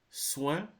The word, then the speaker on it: soin: OIN is pronounced like ouin. So, for example, you have soin, soin, besoin, coin, rejoindre, moins, témoin.